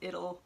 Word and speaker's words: Idyll: this one would be Idle Hands, except I've heard that it's actually pronounced Idyll, so I can't unhear it as Idyll though.